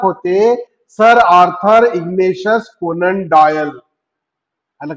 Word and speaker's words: Doyle: डॉयलचं spelling पहा, DOYLE, पण उच्चार काय करायचा? डॉयल.